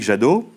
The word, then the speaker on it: Jadot: 2014 et qui est considéré comme centriste Yannick jado très bien dit ça se prononce bien comme ça exactement volé ma vanne